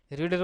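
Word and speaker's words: read: তোমার পাস্ট ফর্মে, যার জন্য রিডের উচ্চারণ যখন পাস্ট ফর্মে কি হয়? অনেকটা রেড হয়, উচ্চারণটা হচ্ছে রেড।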